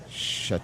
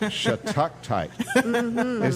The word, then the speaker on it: shattuckite: can you spell that for me? Hold. You were right, It's almost. SHATTUCKITE.